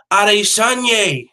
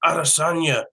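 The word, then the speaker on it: Adesanya: up bro talking about that guys name is pronounced odd a son yeh it's pronounced out of Sanya like like [ __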